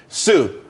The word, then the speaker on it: Tsu: everyone could be happy Sue TSU it's pronounced Sue though that's a that's